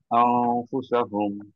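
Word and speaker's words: أنفسهم: স্যার উচ্চারণটা হবে আনফুসাহুম। আর এটা নিয়মটা স্যার হচ্ছে, নিয়মটা হচ্ছে যে 15টা নুন সাকিব বা তানবিনের পরে 15টা হরফ আসলে হুম হুম, এটাকে গুণনা করে পড়তে হয় স্যার।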